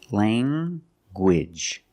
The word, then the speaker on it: language: G sound like language language you have the nasal sound Lang and the hard Gage language language I have one